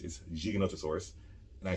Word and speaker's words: Giganotosaurus: south america we have giganotosaurus which people often mispronounce gigantosaurus is giganotosaurus and i said it because the guy in